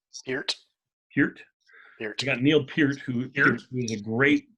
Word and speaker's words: Neil Peart: you say neil's name here curt you got neil peart who here he's a great drummer one of